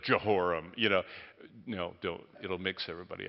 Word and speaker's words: Jehoram: But Yahweh Yireh, all the J's are Y's. If you want to really act like you're a scholar, start pronouncing it that way and say, that Yehoram instead of Jehoram.